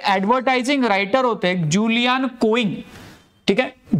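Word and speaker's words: Julian Koenig: नाव दिलं होतं तर हे ऍडव्हर्टायझिंग रायटर होते जुलियन कोइंग ठीक आहे जुलियन कोनिक ठीक आहे प्रोनन्सिएशन बघून घ्या जुलियन कोनिक यांनी याला पहिले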